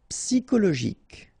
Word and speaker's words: psychologique: Psychologique, okay, remember it's an exception here because you've got this C-H-O. Normally we should pronounce it CHO, okay, but in that case we pronounce it CO.